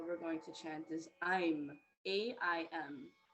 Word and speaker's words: aim: going to chant is i'm a-i-m it looks like aim but it's spelled a-i-m but pronounced i'm an i'm is the